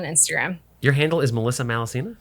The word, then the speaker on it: Malaussena: mainly also on facebook which is melissa malacina that's it but yeah all the data is on instagram your handle is melissa malacina it's my full name